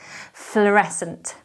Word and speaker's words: fluorescent: would match this dress this word is difficult to spell and pronounce because of that double vowel and then the silence c but maybe if we just remember flower e sent then that will help the third word is